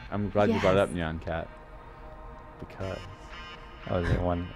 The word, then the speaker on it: Nyan Cat: I'm glad you brought up Nyan Cat. Because. Oh, is it one? Are you spoiling? Cat Former 3D. Ah! That's awesome. Oh my gosh! Yeah, when I was right when Nyancat came out, I made a UDK prototype that